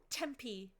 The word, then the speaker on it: Tempe: It is not a cooking pronunciation. Tempe.